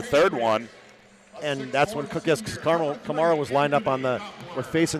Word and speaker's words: Kamara: It's not like the guy in the Saints. It's opposite of that. Yeah, Kamara.